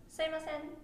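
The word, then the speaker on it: すいません: Like in Tokyo, I would say Suimasen. I say Suimasen. So again, it's mine is accent is on the very last sen part, but yours was at first. So you can kind of be like Suimasen, and at the end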